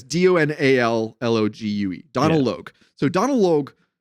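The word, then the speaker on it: Donal Logue: I don't know how you pronounce his first name, but yeah, Donald Logue is how I've always said it. Yeah, it's DONALLOGUE.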